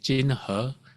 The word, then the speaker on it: Jinhe: who you mean so like my name is in Chinese is chin her but in the US